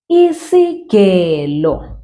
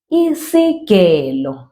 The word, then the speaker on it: isigelo: All right, isigelo, that's the G, ge, isigelo. So it's like the G in girl, right? So isigelo is a scissors.